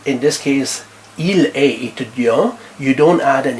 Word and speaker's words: étudiant: Elle est étudiante. She is a student. Il est étudiant. You don't pronounce last consonant or last T.